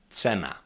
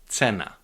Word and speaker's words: cena: This letter represents the sound t like when you put t and s together. T like for example when you say in English let's go. Let's go. T.